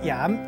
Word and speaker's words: 鹽: 今仔日小解这一字读作盐，也毋过